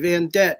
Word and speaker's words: Vandet: E t vanette. It rhymes with a corvette so you don't forget.